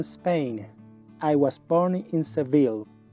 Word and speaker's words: Seville: I was born in seville en inglés debes escribir y pronunciar el nombre de las ciudades de la forma en que lo hacen los anglosajones en inglés pronunciamos seville Mexico Where are you